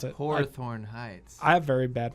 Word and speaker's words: Hawthorne Heights: That's how you pronounce it. Hawthorne Heights.